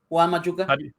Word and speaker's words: Juan Machuca: name before we got started, but is it Juan Machuka? Is that right? Yeah, it's pretty much the name. Juan Machuka.